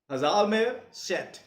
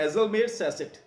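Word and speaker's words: Hjalmar Schacht: मैं जो बोलता हूं वो है हजालमेर सेट, कुछ बोलते हैं हेजलमेर सेसेट। इससे आप स्पेलिंग सही लिख लोगे हेजलमेर सेसेट से, लेकिन हेजलमेर हजालमेर सेट कहते हैं उसे।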